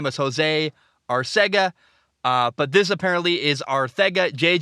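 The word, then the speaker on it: Arcega-Whiteside: told the pr the proper pronunciation is jj arthago whiteside it is spelled our sega uh i had a friend who had the last name his name was jose arsega uh but this apparently is arthega jj arthago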